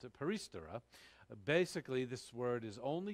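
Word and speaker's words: περιστερά: before but perry uh yeah stirrer so uh peristera that's how you pronounce it paristara basically this word is only used as i've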